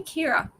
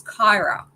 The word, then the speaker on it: Kyra: Why do I keep calling you Kira? Do you know why I can? It's because I need glasses and I refuse to accept it. And I was I was pronouncing your name correctly last week, but I haven't been this week. So, I apologize. It's Kyra.